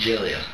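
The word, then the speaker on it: Gelia: g e l i a how do you pronounce that jilia jilia all right tell me why you're here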